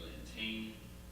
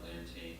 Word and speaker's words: Lantane: My name is Lantane. Lantane kind of rhymes with plantain or maybe champagne. That's usually the easiest way to kind of describe the last name.